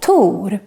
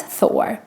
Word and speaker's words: Tor: of the movie thor in swedish we say tur and not thor and we don't write